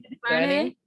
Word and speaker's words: DuVernay: DuVernay?